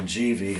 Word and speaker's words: Givi: This is an 80-liter Givi, and they've told me that's the pronunciation, Givi.